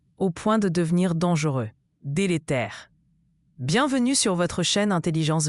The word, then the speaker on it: délétère: Délétère se prononce dé lé tère.